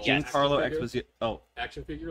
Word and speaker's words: Giancarlo Esposito: Is that the first Giancarlo Esposito? I didn't say his name right at all. Giancarlo Esposito.